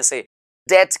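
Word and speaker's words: debt: डीबीटी दोस्तों ध्यान रखिए जीबीटी जो है इसमें बीच साइलेंट एबी नहीं कहते हैं ऐड कहते हैं यानी कि उद्धार यानी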